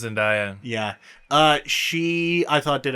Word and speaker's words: Zendaya: I think it's pronounced Zendaya.